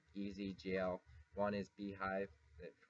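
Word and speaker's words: bhyve: easy GL one is be hi it kind of pronounced beehive but it's spelled like this another is IO Cage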